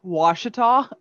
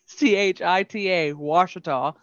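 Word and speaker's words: Ouachita: i just threw at throughout the girls was washita o-o-u-a-c-h-i-t-a washita the difference between nakadish nacodocious and this one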